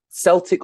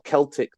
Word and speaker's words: Celtic: evolved from a pre-roman Celtic or Celtic depending how you pronounce it language some Scholars suggest